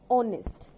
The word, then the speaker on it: honest: Here is also H silent and O. we pronounce that or honest, like this, honest.